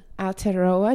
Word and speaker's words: Aotearoa: How do I pronounce that? Aotearoa, New Zealand.